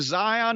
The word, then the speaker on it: Xyon: I'm not sure that the Quinn dynasty ever came from the South Pacific Islands, but his first name, Zion, is spelled Xyon.